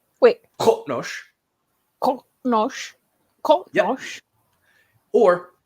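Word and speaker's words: Qo'noS: And to illustrate the difference, we have here Qotnosh, which is the name of the Klingon homeworld. Wait. Qotnosh.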